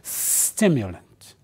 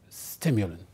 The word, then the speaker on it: stimulant: lent so you have when you pronounce it focus on the first part say stimulant stimulant right good now what